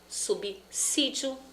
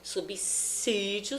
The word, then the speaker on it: subsídio: Subsídio, subsidiar, subsistir e subsistência. Qual é o problema aí? As pessoas acharem que o som desse S é de Z, como subsídio. Não é.